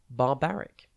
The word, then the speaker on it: barbaric: tv today's word is barbaric it's pronounced and it is spelt b a r b a r i c think bar and then bar again and then ick barbaric has two meanings